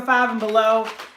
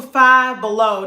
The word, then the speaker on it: Five Below: Go to Five Below, not Five and Below. I don't know if people know that. That's not how you pronounce the name of that store. It's Five Below.